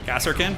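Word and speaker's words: Kasrkin: Cassarkin.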